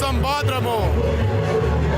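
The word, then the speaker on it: Sambódromo: It's pronounced Sambadromo.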